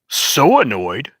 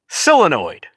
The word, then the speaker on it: solenoid: I've never once heard anybody say, so annoyed. Never heard that in all my American existence. Maybe that's the way they pronounce it in China, or that's how they